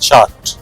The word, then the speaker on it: Chaat: I'm not sure exactly how it is pronounced, but locally they pronounce it chart.